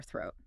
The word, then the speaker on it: throat: you have a sore throat. Let's practice the Thor sound in throat. You must put your tongue slightly between your front teeth.